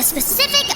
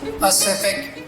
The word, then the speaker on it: Pacific: with your juvenile game snoozer is exploring the specific ocean inaccurate it is pronounced pacific ocean p a c i am incapable